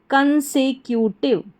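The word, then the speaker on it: consecutive: फिर से देखें CON कन, SE से, कन से। फिर है Q, CU Q, और TIVE टिव। तो पूरी स्पेलिंग हमारी क्या बन गई? कंसेक्यूटिव।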